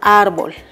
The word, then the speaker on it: árbol: de estas dos sílabas cual la pronunciamos con mayor fuerza sí muy bien la pronunciamos la sílaba ar y la sílaba ahora